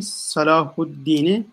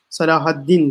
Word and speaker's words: Salahuddin: Şarkın en sevgili sultanı Salahuddin'i ama bu din kelimesinden önce Salah yani şuradaki Salahaddin diye bugün biz ifade ediyoruz. Öyle de ifade ederiz. Ama Arapça cehdiyle bakıldı Salahuddin diye okunur ve o tarzda telaffuz edilir.